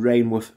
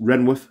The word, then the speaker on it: Rainworth: and first off apologies I've been saying rainworth through the video I didn't realize it were actually uh pronounced renworth so um my bad